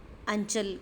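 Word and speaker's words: आँचल: पूरक पाठ्यपुस्तक है और सुनो कि माता का अंचल कृतिका का पहला पाठ है माता का अंचल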